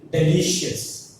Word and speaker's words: delicious: That is delicious. What is that? Delicious. The delicious has 3 syllables. One is delicious. So stress falls on the li because it is the second from the ending.